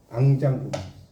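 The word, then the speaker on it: enjambement: 앙장부망. 이 앙장부망을 이제 영어로 쓰면 이렇게 써요. 절대 쓰면 근데 이걸 읽을 때 앙장부망이라고 읽어요. 알겠죠? 불어에서는 단어 끝에 T가 나오잖아요. 그럼 거의 T를 발음을 안 해요.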